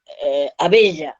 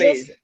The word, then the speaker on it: Abella: Mi segundo apellido, que es mi apellido materno, es Abella, Abella. Los Abeja, uruguayos, Abeja.